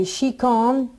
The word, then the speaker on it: síochána: But it's it looks funny because you know, it doesn't look like you'd say síochána, but that's how it's pronounced actually.